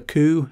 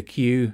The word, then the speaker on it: Qu: people's interpretation of the queue or or the coup as it's actually pronounced you know I I I called it the Q to be to to begin with and I